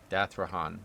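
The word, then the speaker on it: Dathrohan: Dathrahan. Dathrahan is how you say that.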